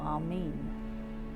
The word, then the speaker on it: Amen: Interestingly, the word Amen or Amin, as it's sometimes pronounced and spelt, has the two letters